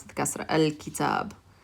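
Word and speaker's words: الكتاب: So we pronounce it al, and then the kaf, we pronounce it the kasra, al-kitab. So when you have a moon letter after alif lam, you're going to hear al.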